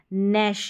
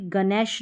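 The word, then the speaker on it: gnash: ये हो गया नैश। यहां पर गणेश नहीं नेश।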